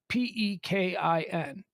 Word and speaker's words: Pekin: Pekin. Pekin is, I guess, the way you would pronounce it as a Midwesterner.